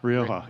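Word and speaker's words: Rioja: Rioa.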